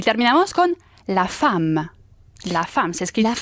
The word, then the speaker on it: femme: La femme. Se escribe femme, pero se dice con una A.